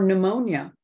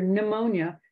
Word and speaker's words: pneumonia: most people they hear pneumonia so they think new n e and you can often see it spelled any W uh as opposed to p n e u knew that that p is silent so spelling becomes an